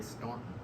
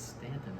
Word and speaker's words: Staunton: do we know because they say ston but it's Stanton if you live here oh is it St